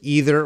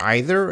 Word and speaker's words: either: They have two pronunciations. So it's either or either and neither and neither. Both are okay.